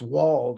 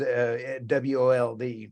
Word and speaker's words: Wold: It's Wald, I guess, is WOLD. So how do you say that back east? Wold. Okay. Like wool, but tea.